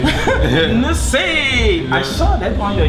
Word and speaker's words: Nze: Nollywood also has talented actors, and I'm here with one, and his name is Stan Nze. Yep. Is that a good pronunciation? Yeah, I'm sure that you got that right, actually. Nze.